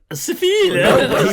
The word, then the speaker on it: Seville: Seville. He pronounced it correctly.